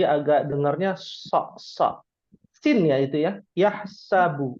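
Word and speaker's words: يَحْسَبُ: dengarnya ya itu ya yahsabu bukan yahabu ya Masyaallah ya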